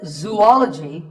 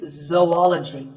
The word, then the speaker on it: zoology: If you said zoology, it's actually wrong. That is a very common mispronunciation. This is actually zoology. Zo and ology. Zoology.